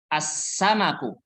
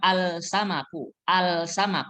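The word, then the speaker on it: السمك: as samabu huruf Sin as samaku bacanya bukan alsanaku tapi langsung masuk ke huruf Sin Alif lamnya tidak terdengar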